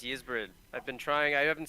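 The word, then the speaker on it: Ysbryd: out how to pronounce ysbrid i've been trying i haven't said anything to you guys for like 10 years for years i thought it was wise bird i thought it was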